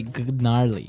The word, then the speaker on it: gnarly: so an interesting word it's spelled g n a r l e y okay so but you don't say gnarly no you say gnarly yep and a related